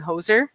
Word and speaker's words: Hoosier: So, and for those that don't know, Hoosier, you know, if you don't live in the state, Hoosier is what they call people that live in Indiana.